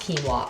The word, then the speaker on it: quinoa: I know it's pronounced quinoa.